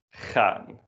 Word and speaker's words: gaan: Let's try to pronounce that. Gaan.